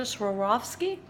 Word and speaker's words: Swarovski: gave me these they're so sparkly those are Swarovski I said it right for the first time